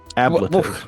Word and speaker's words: ablative: Ablative.